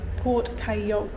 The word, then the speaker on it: Porte Cailhau: I have since learned it is Porte Cailhau, that's how you pronounce it. Probably still murdering it, but a little bit closer to what it should be like.